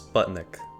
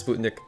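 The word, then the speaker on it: спутник: at least for English speakers has to be Sputnik now most English speakers would actually pronounce this as Sputnik but yeah the real pronunciation is Sputnik and it literally translates to just satellite so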